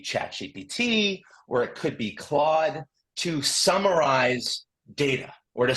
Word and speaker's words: Claude: So I want to introduce you to, if you haven't already met it, this is a tool called Claude, or I like the woman's pronunciation much better, Claude.